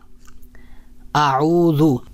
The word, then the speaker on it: اعوذ: ہے زا زا زا۔ تو اعوذ میں جو حرف ہے وہ ہے ذال ہے، تو یہ نرم حرف ہے، اور جو زا ہے